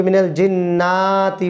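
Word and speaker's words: مِنَ الْجِنَّةِ: মিনাল জিন্নাতি মিনাল জিন্নাতি অনেকে মিনাল জিন্নাতি বলে জিন্না কোন টান নেই মিনাল জিন্নাতি মিনাল জিন্নাতি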